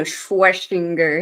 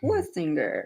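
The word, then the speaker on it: Schwesinger: I wanna Schwessinger him, but it's Swessinger.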